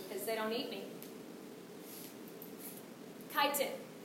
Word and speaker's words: chitin: Chitin. It's pronounced chitin, not chitin.